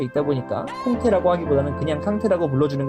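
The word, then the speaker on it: Kanté: 자신이 이제 프랑스식 발음으로는 꽁떼가 맞는데 꽁떼보다는 말리식 발음인 꽁떼를 좀 더 선호한다 라는 인터뷰를 하면서 이제 우리나라 해설자들이 캉테를 한동안 콩테라고 불렀던 적이 있는데, 콩테가 오른쪽 넣어줬습니다.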